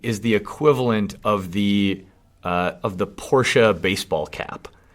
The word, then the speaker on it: Porsche: do you have a Porsche? I actually believe it's pronounced Porsche. No. Really? No. I have been corrected several times by Porsche owners.